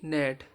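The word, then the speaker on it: gnat: silent रहेगा एन के पहले आया हुआ जी साइलेंट रहता है जैसे डी ई एस आई जी ई N design G N eighty नेट एस आई जी N sign तो इवर्स में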